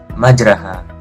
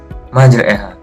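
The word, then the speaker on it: مجريها: surat Hud ayat 41 yang seharusnya dibaca majraha menjadi majreha.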